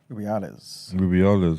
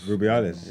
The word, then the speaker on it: Rubiales: Rubiales. Rubiales.